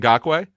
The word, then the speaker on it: Ngakoue: me if I say it wrong, Adam, Yannick Ngakoue? No, Yannick Ngakoue.